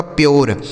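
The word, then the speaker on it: pure: इस यू का उच्चारण हमें यो कर देना है। आर ई से र। यह लिखा गया आपका प्योर। इसे क्या पढ़ा जाएगा? प्योर। इसे ना तो पूरे पढ़ेंगे ना तो परे पढ़ेंगे।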